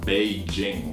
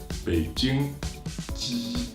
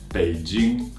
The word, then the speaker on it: Beijing: be bi bi J ing Beijing it's not Beijing wallet if you want to say correctly it's big June June Beijing when you say when you pronounce the J